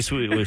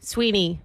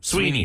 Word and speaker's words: Sweeney: Sydney Sweden. What's her name? Sydney Sweden or how do you say her name? Sydney, Sweden. Is that her name? Sweeney. Sweeney.